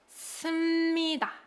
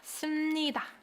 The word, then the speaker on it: 씁니다: Although it's written with 피읍 받침, it's pronounced 씁니다. 씁니다. 씁니다, right?